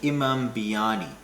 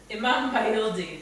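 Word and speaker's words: İmam bayıldı: We're doing a Turkish salad, which is pretty much something called an Imam biryani, which is might not be the exact way to say it. How do you say it? Imin Bayildi.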